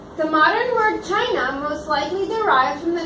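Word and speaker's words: Qin: says the modern word China most likely derives from the name of kin pronounced Chin Dynasty yes the first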